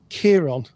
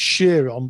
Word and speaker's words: Chiron: some Greek mythology of Chiron. I think it's actually pronounced Chiron, but it's spelt with a K. Go figure, the Greeks.